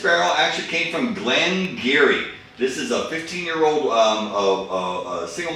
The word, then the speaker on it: Garioch: Glengarry, because first of all, no one can pronounce it, because it's spelled Garioch, so it's Garioch, or Girach, or whatever, but it's Geary.